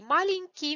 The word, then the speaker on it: маленький: Маленький means little or small. It is no matter in Russian little or small, it's only one word, маленький. Маленький, the stress is on -а.